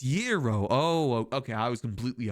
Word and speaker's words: gyros: Oh, it's yero.